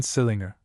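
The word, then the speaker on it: St Leger: St. Ledger, for instance, is always pronounced as if written sillinger, commanderly as Chumley, Marjgery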